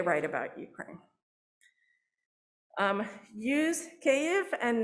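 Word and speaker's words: Kyiv: is that there's a sound in this name that that we don't have in english so we can only guesstimate and try and get it right but one thing it is not is kiev that that goes out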